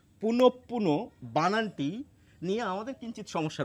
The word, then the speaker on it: পুনঃপুন: দেখুন আমি এই শব্দটির প্রমিত উচ্চারণ লিখে রেখেছি। পুনঃপ পুন পুনপুন প দুবার আসছে আমাদের উচ্চারণে এবং আমাদের দুবারই করতে হবে।